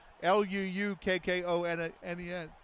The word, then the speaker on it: Luukkonen: It's actually spelled with 2 U's as well. It's Luukkonen.